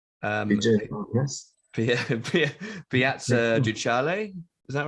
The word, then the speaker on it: Ducale: You'll have to excuse my pronunciation, but the event was al fresco in Vigevano, Yes. Piazza Ducale. Is that right? Ducale.